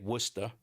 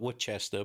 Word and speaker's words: Worcester: way we say it it's like Worcester you'd call it Woodchester but it's it's Worcester to us but they just found